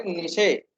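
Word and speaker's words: niche: इसको कभी कभी निश के नाम से प्रोनाउंस किया जाता है, निश।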